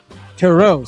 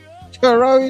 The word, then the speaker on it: Theroux: Pete, Americans and Brits pronounce it with a th rather than a ch because they can't French. Theroux. So I'm pronouncing it correctly, right? Good. Theroux it is.